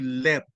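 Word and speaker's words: לב: So, ang heart sa Hebrew ay leb, L-E-B, no? Kapag pronounce natin in the Roman way.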